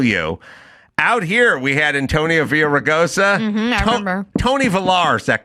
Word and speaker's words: Villaraigosa: Out here, we had Antonio Villaraigosa. I remember. Tony Villar's that guy's name. Yep. He is Tony Villar, guy who failed the bar 5 times. That's his name. It's not Antonio Villaraigosa.